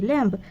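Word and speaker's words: lamb: এল এ এম বি ল্যাম্ব এখানে লেখা আমরা লেখার সময় কি লিখবো ল্যাম্ব আর উচ্চারণ করার সময় বলব ল্যাম্ব কি বলবো উচ্চারণ করার সময় মুখে বলবো কি ল্যাম্ব আর লেখার সময় লেখবো কি ল্যাম্ব এল এ এম বি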